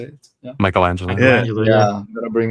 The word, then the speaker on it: Michelangelo: Michelangelo.